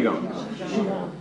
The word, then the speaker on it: Qigong: studies in traditional Chinese medicine and Chinese medical Qigong, I think I'm pronouncing that correctly, therapy. Qigong. Qigong, oh yeah, thanks a lot for spoiling my day.